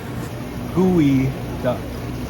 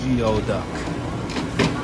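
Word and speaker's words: geoduck: Got some live gooey duck. I know this looks like it says Geo, but it is pronounced gooey duck, not Geo duck.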